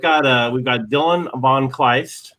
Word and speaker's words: von Kleist: so everybody we've got uh we've got dylan von kleist right i pronounced your name right right yup very good